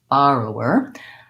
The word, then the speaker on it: borrower: add borrow borrow were I find for me pronouncing that still first syllable stressed borrow were borrower I have to slow